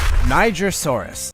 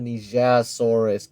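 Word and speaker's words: Nigersaurus: Actually, it's quite nice to see something like a Nigrosaurus getting some attention. I'm simply following how Niger is pronounced in French. The dinosaur with 500 plus teeth. Some people have said that Nigrosaurus is the weirdest dinosaur ever seen.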